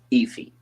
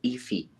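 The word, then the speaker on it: Aoife: anymore so okay look iffy the name is spelled ioi f e if I'm correct all right you're wrong a-o-i-f-e that that's iffy what what Universe does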